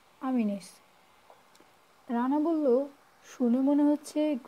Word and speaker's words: Ameenees: উচ্চারণ এরকম হবে, AMEENEES, আমিনিস।